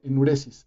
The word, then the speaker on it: enuresis: debe ser o endurece enuresis perdóname enuresis no no no puse el acento en ures is en mi diccionario de